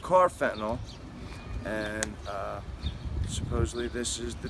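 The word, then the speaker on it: carfentanil: Car fentanyl? Car, like a regular Full car, C-A-R, but it's spelled with a K, okay?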